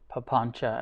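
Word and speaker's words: papañca: I think it's C, but it sounds like CH.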